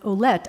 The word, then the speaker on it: Ouellette: His last name is spelled Ouellettte, that is the original spelling of Willett, which is my name. It came from Ouellette.